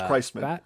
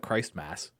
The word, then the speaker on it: Christman: It's Christman. I don't know why you do that. What? Christman? It's Christman. You don't call it Christ Mass.